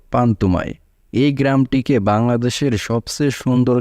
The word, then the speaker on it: পান্তুমাই: পান্তুমাই গ্রামের স্থানীয় নাম হল পান্তুমাই। কিন্তু এর সঠিক উচ্চারণ হল পান্তুমাই।